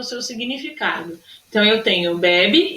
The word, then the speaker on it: bebê: Uma tem um acento, não tem acento circunflexo, mas é pronunciada de forma mais aberta, bebe, e a outra com acento circunflexo tem uma sílaba que é mais fechada, bebe, tá bom?